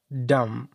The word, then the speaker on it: dumb: dumb dumb بی نه تلفظ کیږي ګونګی ته وایي dumb ګونګ یا ګونګای جملې ته راځو The dumb child expressed his feelings by gestures.